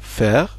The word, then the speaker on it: Verzeihung: En 3, la prononciation de Verzeihung. C'est peut-être le mot le plus compliqué du texte. Sachant que le V se prononce F et que le Z se prononce Ts, donc ça fait Verzeihung.